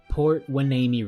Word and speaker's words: Port Hueneme: The 1 seed of Robot Dolphins and High Tide, who we saw at both Port Hueneme regionals, there we go, I pronounced it right this time, took on the